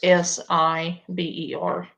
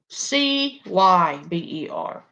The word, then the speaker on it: cyber: And they spelled it Siber. Honey, no. It's Cyber. Okay. Not Siber. It's Cyber.